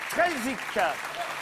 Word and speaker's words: Strelzyk: Le nouveau candidat s'appelle Strelzik. Je prononce bien votre nom?